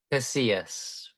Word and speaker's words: Casillas: Casillas.